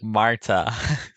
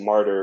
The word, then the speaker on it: Marta: Okay, you But pronounce they her think name differently every time. good, as God intended. Marta. Marta, sorry. I Marta. thought I said martyr or martyr, like Here you go.